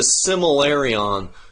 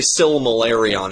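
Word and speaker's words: Silmarillion: know what it took i called it the similarion so long because that l is so hard to slip in there still malaria syllable just say similarion and then say still malarion and it's just feel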